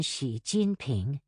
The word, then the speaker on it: Xi Jinping: X, as in Xi Jinping, is pronounced like the SH in Xi.